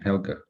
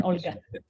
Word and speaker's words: Olga: It's written Helga. Is it the right pronunciation? In English, yes. In Russian, Olga.